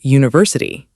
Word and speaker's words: university: What about university? We say a university. Even though it starts with the letter U? Yes, because it starts with the Y sound.